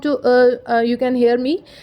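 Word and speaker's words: ط: Now the most awaited alphabet we have is Toy. Toy. Okay, well, Toy is a pronunciation difference between to and ta. Like when you read Arabic Qaida for reading Quran while you learning Qaida, it's ta and to.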